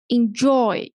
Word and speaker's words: enjoy: Like this word, enjoy. So joy, the second syllable is stressed.